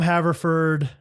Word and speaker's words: Haverford: Haver, Haver Ford, like Henry.